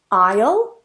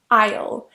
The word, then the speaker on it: isle: Island another example is Isle and also Isle they're pronounced exactly the same way so don't pronounce the S here so the next word